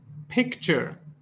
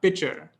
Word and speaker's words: picture: there's a slight difference this is pronounced picture not picture picture you know you say take a pic just add a cheer after that picture but yeah surge we